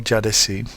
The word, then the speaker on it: Caddesi: a street called Istiklal Caddesi. Caddesi is just street. It starts with a C because the C in Turkish is pronounced as a J.